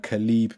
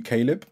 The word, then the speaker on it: Caleeb: And just so you know, my dad added an extra e in my name, so it's pronounced Caleb, but it's spelled Khaleeb, so trust me, I get it all the time.